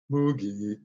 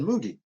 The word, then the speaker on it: Moogie: Moogie.